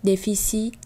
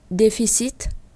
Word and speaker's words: déficit: Chúng ta không đọc là fiat, magnificat, granit, déficit, transit, mais on doit prononcer le it et at, it.